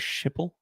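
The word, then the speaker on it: Schiphol: Peach's Galos in Amsterdam skall airport is that like Bob Galo did you pronounce it skall I thought was shiple skip the you want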